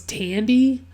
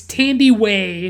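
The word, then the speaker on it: Thandiwe: it's like i had always seen it like misspelled without the w and i just thought it was tandy but like it's tandy way newton um i i put in my notes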